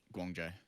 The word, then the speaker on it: Guangzhou: think both New York and, no, I didn't pronounce this correctly, Guangzhou charge. Guangzhou.